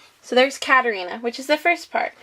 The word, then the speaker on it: Katerina: So how you spell it is K-A-T-E-R-I-N-A. So that's Katerina. So for the first part is cat. So I like to think of an actual cat.